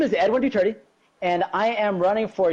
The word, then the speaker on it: Duterte: Duterte. It's Duterte, like Duterte. Duterte, but without the H.